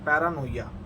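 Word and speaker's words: paranoia: इट्स PARA पैरा NOIA पैरानोइया।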